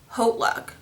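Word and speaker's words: HauteLook: Actually, I believe it's pronounced Haute Look. Yeah, I think it's pronounced Haute Look because I saw a commercial on TV last night, and that's how they pronounced it. So that's how I'm going to start pronouncing it. But I always call it Hot Look for some reason.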